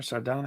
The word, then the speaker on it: sardonic: is that the word is that your name there sardonic yes oh my God you're like the first person to say it correctly yeah you're actually the